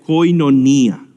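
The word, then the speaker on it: κοινωνία: hablar de comunidad es esta palabra que se pronuncia koinonía han escuchado esa palabra koinonía hoy non ía se refiere a comunión comunidad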